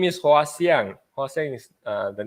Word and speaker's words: Hwa Siang: How is it properly pronounced? All right. Hi, everyone. My name is Hwa Siang. Hwa Siang.